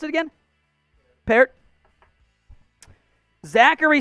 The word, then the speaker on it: Peart: Right tackle, Matt Peart. Or Pert? How do you pronounce it again? Peart.